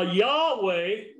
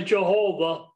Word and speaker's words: Yahweh: now yahweh putting in the vows to make it pronounceable is a transliteration of yhwh as i said to make it pronounceable and as i also said many chose to say jehovah instead of yahweh i personally believe for whatever that's worth that yahweh is god's preferable name l o r d